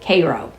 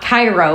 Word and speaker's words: Cairo: That's how they pronounce it, Cairo, like the syrup. Not Cairo, like Egypt, right?